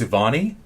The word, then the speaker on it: Evoni: I've been saying it wrong on our thing. I was saying Evoni. It's Evoni? Yes.